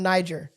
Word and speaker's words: Niger: trying to do a tribute to someone from Niger yeah the African country right and he used